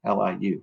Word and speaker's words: Liu: in there too damn I keep spelling his name wrong L IU I always do yeah it's Liu yeah I've